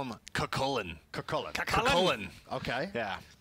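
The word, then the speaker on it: Cú Chulainn: And how the hell do you pronounce his name first of all? So why don't we call him Kakullen? Kakullen. Kakullen. Okay. Yeah. Not Cuchain.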